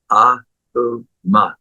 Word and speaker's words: Om: The actual pronunciation is A-U-Ma, Aum.